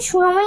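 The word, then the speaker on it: tsunami: সুনামি বানানে যেরকম টি এর উচ্চারণ হয় না, তেমনি আমার করতে বসাতাম টি সবসময় সাইলেন্ট থাকে।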